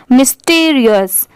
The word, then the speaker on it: mysterious: तो यहाँ पर अगर हम सेपरेट करेंगे MY को तो माय पढ़ते हैं, पर यहाँ पर इसकी प्रोनाउंसिएशन क्या है? मी, ठीक है। STERI, स्टर, और OUS, अस, मिस्टीरियस, मिस्टीरियस।